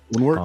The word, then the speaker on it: Woundwort: How do you pronounce the name of this, Austen? This is the Woundwort.